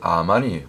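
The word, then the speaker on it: אמן: 말씀처럼 고린도서 있는 말씀처럼 원래 아멘이 히브리 원문의 발음은 아멘이 아니고 물론 아멘이 맞는데 원래 출발은 아만이 아만 원래 그 원조 아멘의 발음이 히브리어으로는 아만이 맞습니다 아만 그래서 우리가 보통 아멘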